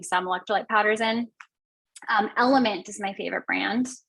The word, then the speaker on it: LMNT: waiting until the end element is e-l-m-n-t it's l-m-n-t and you pronounce it element but it's just l-m-n-t